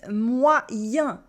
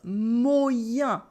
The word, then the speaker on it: moyen: And that's why it makes moyen, and not moyen. Because in French, the Y equals 2I.